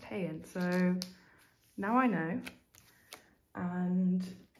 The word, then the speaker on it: Haerin: I just found out the other day from 8 Rally's video that it's not pronounced Haerin, it's pronounced Haerin.